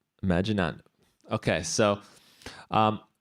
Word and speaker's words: Imaginando: I would say Imaginando. Imaginando.